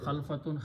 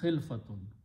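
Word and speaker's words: خلفة: So, word is khil not khalfatun, khilfatun.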